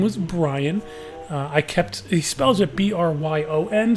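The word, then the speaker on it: Bryon: He spells it B-R-Y-O-N, so the first time I looked at it, I was like, oh, this guy's name is Byron. But no, it's Brian with an O-N. Totally different way to spell it.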